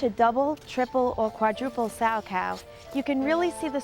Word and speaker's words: Salchow: it sa cow or sour cow but it's actually spelled s a c h o w and pronounced sow it's named after its